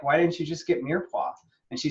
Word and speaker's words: mirepoix: Mirepoix. I was wondering how you're going to pronounce that. It is Mirepoix.